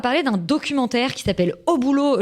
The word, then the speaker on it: Au boulot: Et maintenant, on va parler d'un documentaire qui s'appelle Au boulot, je le prononce comme ça parce qu'il y a un point d'exclamation, co-réalisé par François Ruffin et Gilles Perret.